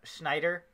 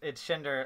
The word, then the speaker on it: Shinder: He's corrected us, because we used to say his name was Schneider. Steven Schneider. But he was like, no, it's Shinder, like Tinder.